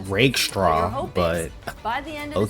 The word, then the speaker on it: Rakestraw: They don't have to be amazing earlier on because of the cushion it's that pronounced Rakestraw, but by the end of the season, some combination fucking saying of it weird.